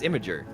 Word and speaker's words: Imgur: Oh, Imager. Yeah, Imager, yeah. Yeah, no, it's Imager. Yeah, but like it's spelled Imgur.